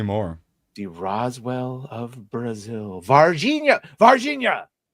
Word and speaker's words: Varginha: Varginha. No, not the mispronunciation West of Virginia.